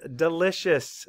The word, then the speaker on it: delicious: Map the sounds. D, I, L, I, S, U, S. Delicious. Spell it. D, E, L, I, C, I, O, U, S. Delicious. You were sounding it out. You probably already found that schwa, I bet.